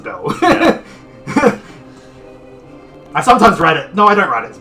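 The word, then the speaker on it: Bael: specific way it's spelled i write it as b-a-e-l it's pronounced bell i sometimes write it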